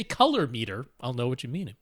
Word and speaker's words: colorimeter: and seeing if the it's pronounced color oh meter color color oh meter